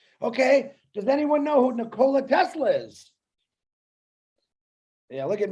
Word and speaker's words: Nikola: You're talking about Nikolai Tesla. No, it's Nikola, actually, if you pronounce it correctly.